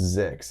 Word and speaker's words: ZYX: zyx and we pronounced zix it's the alphabet backwards just pronounced as a word yeah it's it's just